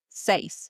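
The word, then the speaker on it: seis: 6 is next, which is say s e i s. That's right. And it's pronounced just like you would say Simon says in English.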